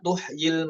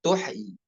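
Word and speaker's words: تحيي: ya ataukah tuh ya tuhi Nah cara yang benar adalah yang bacanya tuh tuhi bukan tuhyi bukan dua harakat namun pada ee tempat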